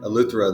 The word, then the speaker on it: Eleuthero: Eleuthero, is that how you say it? Yeah, Eleuthero.